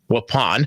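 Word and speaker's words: Waupun: If you are in Wapen or Wapon, which is the proper pronunciation, please do seek shelter.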